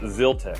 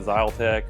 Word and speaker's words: Zyltech: uh zeltech engineering and pronunciation is zil TE I got confirmation on that it's not ZTE or anything like that